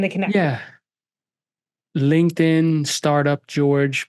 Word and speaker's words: Jorge: connect yeah LinkedIn startup George but also startup George or it's spelled j o r g as we discussed